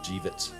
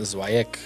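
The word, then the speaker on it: Żywiec: Nothing like it's spelled. Jivits. Jivits. Yeah. Just Jivits. Yeah. Zywiec. Jivits. I was way off. I've been calling it Zwyek. Hooked on phonics. Yeah. Zywiec is Jivits.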